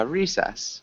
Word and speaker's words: recess: Recess Recess Recess yeah make sure you get that s sound and doesn't sound like